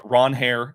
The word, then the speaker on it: Ranger: To me, Ranger or uh Ronhair, as uh as he said it's pronounced, although he said, of course, it doesn't. He doesn't mind.